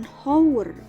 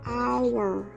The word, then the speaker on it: hour: itu dibacakannya ini bukan dibacanya bukan hower kalau membaca bahasa Inggrisnya Bukan houria tapi hour ini dibacanya our our Nah karena bunyinya a